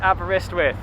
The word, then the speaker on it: Aberystwyth: We are in, you pronounce it better, Joe? Aberystwyth.